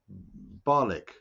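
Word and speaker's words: Barnoldswick: I'm in North Yorkshire in a town called Barlick, which is spelt Bartholdswick, just to confuse Southerners.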